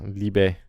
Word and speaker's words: Liebe: Yeah, Liebe.